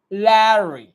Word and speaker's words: Larry: R sound is like a R. Larry. No, it's not like that. Larry. It's a R sound should be a silent. उसका जो pronunciation होता है वो थोड़ा सा shortcut में होता है. Larry. ल को खींचना है, र को शॉर्ट करना है.